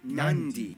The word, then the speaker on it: Nadi: And just remember, in the Fijian alphabet, C makes the th sound, D makes the nd sound, B makes the mb sound.